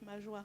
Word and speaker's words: Majoie: Your pronunciation of your name is Majoie? Yes, Majoie. Majoie, alors. Ah, okay. then, Majoie.